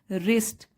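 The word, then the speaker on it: wrist: रिस्ट, अपनी कलाई पर, रिस्ट, ठीक है, डब्लू साइलेंट है, रिस्ट अपनी कलाई पर पहनी हुई थी।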